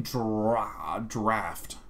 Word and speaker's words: draught: Fortifying draft. Anything that's A-U-G-H-T or O-U-G-H is like so weird in English. Fortifying. Is it draught? Because I believe that is pronounced draft.